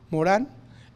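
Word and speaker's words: Morin: eh que se llama Edgar Morán Morín se escribe francés Morán eh que es ha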